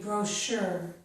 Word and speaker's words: brochure: Here we have words with the letters CH, which make the sh sound. This is charade, chef, Chicago, machine, mustache, and brochure.